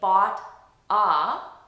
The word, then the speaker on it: bought a: So all I'm doing is I'm linking these two sounds together, and instead of saying bought a Mac with unnatural pauses between them, I'm just linking them and saying boughta.